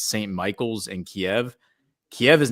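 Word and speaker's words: Kyiv: Just FYI, it's pronounced Kiev.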